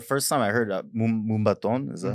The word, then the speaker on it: Moombahton: the first time I heard Moombaton, is that how it's Yeah, pronounced? Moombahton.